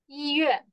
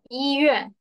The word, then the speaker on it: 医院: This one we have also this one we call 医院. Yeah, 医院. 医院. Like the letter E. Same pronunciation.